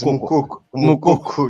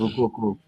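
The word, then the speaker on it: Moukoko: Amukoko. Yeah. It's Mukoko, like Mukoko, like you said, yes. Yes, it's Mukoko.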